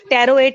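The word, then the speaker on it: pteroate: Trimethoprim वो थी जो हमारे पास सल्फोनामाइड थी, वो डाईहाइड्रो टेरोएट, टेरोएट में वो पी आता है उसके स्पेलिंग में, बट पी इज साइलेंट।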